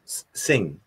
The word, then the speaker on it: Singh: Jagmeet Singh. You don't pronounce. I'm trying to pronounce the H and I shouldn't.